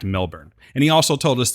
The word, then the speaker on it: Melbourne: point was is that he said that Melbourne is the actual pronunciation we arrived we were going back and forth between Melbourne or I was I should say Melbourne Melbourne it is in fact Melbourne and he also told